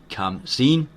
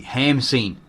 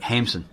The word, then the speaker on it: Khamsin: desert, known as the Khamsin, so that there, Kham, should be Hamsin, right? Because in the Egyptian, you don't pronounce the K.